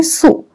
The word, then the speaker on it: Sioux: Hum isko pronounce karenge Sioux.